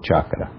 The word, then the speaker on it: Chakra: Escreve-se Cakra, mas a pronúncia é sempre Chakra.